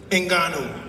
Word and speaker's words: Ngannou: My son, Ngannou, I said it right that time, didn't I?